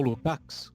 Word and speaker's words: Lukács: O autor que eu estudo hoje é um filósofo húngaro, já falecido, o George Lukács, ou Lukács, cada um pronuncia de um jeito.